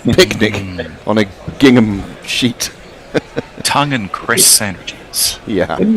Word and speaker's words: Tongue: How is how is tongue's name pronounced? Is it tongue or is it tong? Tonga. I think it's just like an English tongue, isn't it?